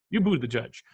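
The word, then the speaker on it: Buttigieg: are virtually tied are Buddha judge can you say his name properly a judge who to judge you be the judge you good yes you booed the judge and and and Bernie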